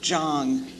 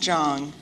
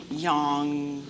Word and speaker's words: Jong: darkness and also that my name is pronounced Jang for those of you